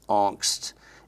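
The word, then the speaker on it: Angst: there's a term that's it's spelled differently than it's pronounced it's pronounced anst a n GST T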